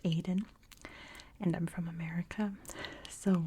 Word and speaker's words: Aden: the world it's pronounced Auden so you don't need to leave comments or anything but in British English and I believe in American English it's pronounced Aiden and I'm from America